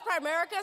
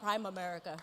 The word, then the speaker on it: Primerica: At least I can say it right. It's not Prime America or whatever.